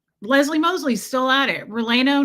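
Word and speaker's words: relleno: Releno. Not Rolano.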